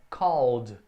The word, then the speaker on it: called: Não é called, tem o e, mas não pronuncia, é called.